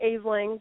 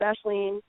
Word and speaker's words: Ashling: It sounds like, or it looks like Aisling, but it's pronounced Ashleen.